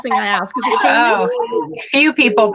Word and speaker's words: Caeli: It's actually Caeli. Caeli. Okay. Yeah, there's an invisible H in there. Yeah, well, I like that. And it's not spelled like the usual Caeli, and so therefore confuses people. It's Latin. It's Latin for heaven.